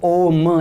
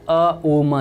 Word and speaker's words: ओम: आमतौर पर जब हम ओम का उच्चारण करते हैं तब ओम ऐसा बोलते हैं, लेकिन इसका वास्तविकता में उच्चारण होता है अ उ म, जैसे कि इसमें अ